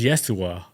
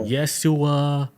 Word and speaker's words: Yeshua: Is Yeshua. So it sounds similar to Jessica like Yeshua.